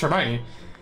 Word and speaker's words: Hermione: i know how hermione is pronounced because it's pronounced hermione like that much is if i'm aware of